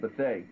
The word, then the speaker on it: Bethea: Another gentleman in the Hall of Fame class for 2003, Alvin Bethea, or some people pronounce it Bethea.